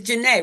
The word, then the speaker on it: Jana: I'm aun educator I'm sorry no no it's Jana right I want to get it right I